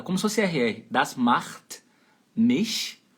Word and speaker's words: macht: CH você vai fazer meio rasgadinho assim, macht.